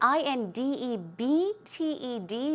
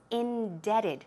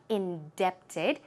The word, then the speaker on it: indebted: in that it is ind eb t e d but the pronunciation is indebted the B here is silent so keep that in mind it is not indepted indebted so these are